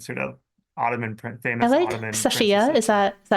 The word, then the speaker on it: Safiye: Safia. Is that is that how you pronounce? Safier.